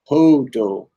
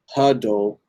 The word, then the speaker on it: hodl: You pronounce hodl as hodl, not huddle or hodl or jiffle.